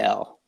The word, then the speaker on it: Gil: Gil, and that's for those of you who don't know, it's and then Gil, just No, GIL.